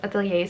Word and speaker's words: atelier: I know you Americans say Atelier, but that goes so against everything I've learned. I'm Dutch and we borrow this word from the French, so we say Atelier.